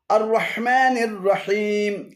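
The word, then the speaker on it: الرحمن الرحيم: এক শব্দ আর রাহমানির শব্দটিকে ভেঙ্গে আর রাহ এবং মানির দুটি আলাদা শব্দে পরিণত করে উচ্চারণে ভুল করা হয়েছে শুদ্ধ পাঠ হল আর রাহমানির রাহিম আর রাহমানির রাহিম আর শুদ্ধ পাঠ হল আর রাহমানির রাহিম আর রাহমানির রাহিম এখানে আররাহ এবং মান উভয়টি ভুল উচ্চারণ শুদ্ধ উচ্চারণ হবে আর রাহমানির ছয় নম্বর সূরাতুল ফাতিহা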